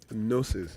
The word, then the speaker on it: Gnosis: Gnosis. Gnosis. What is the G there now? Yeah, the G is silent. If it's silent, why put it? It's not me, it's Latin.